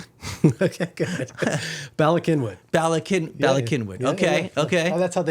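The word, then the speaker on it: Bala Cynwyd: I mean, I'll pronounce it like it sounds, but Balasinwood. Okay, good. Balakinwood.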